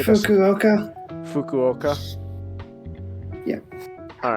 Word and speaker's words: Fukuoka: Fukuoka.